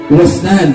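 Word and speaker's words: وسنان: Kalau khamis yang kelima al-wasnan, dua maftuha wasim muhmalah sakinah wa nunain bainahuma alif. Wasnan ya bacanya.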